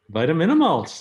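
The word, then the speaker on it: Vitaminamulch: a short film that I always have trouble pronouncing, Vitaminimulch. Vitaminimulch, Air Spectacular, that's right.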